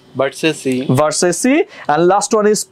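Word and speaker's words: Versace: বি ভি ই আর এস এ সি ই ভার্সেসি ভার্সেসি and last one ইজ পি আর এ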